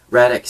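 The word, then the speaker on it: Radec: Of course we should have Radic, or Radic, or however you're pronouncing it. It's Radic, right? Yeah, it's Radic.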